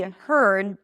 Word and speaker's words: heard: If I pronounce that with a d heard I heard the news then I still activate the vocal cords but just slightly because I don't say heard. I don't release the d heard. Right? So, I block the air immediately, but I still make a little bit of a sound here.